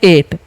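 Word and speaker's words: eight: यहाँ पर GH का उच्चारण नहीं किया जाता है, आपको याद रखना है। क्यों, क्योंकि जब भी आई के बाद GH रहेगा ना तो GH का उच्चारण नहीं होता है, ये आपको याद रखना है, ठीक है। आई के बाद जब भी GH रहे उच्चारण नहीं करना है GH का, ठीक है।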